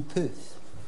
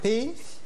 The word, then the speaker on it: Pef: Et comment on prononce en fait Pef ou Peuf? Pif. Pef.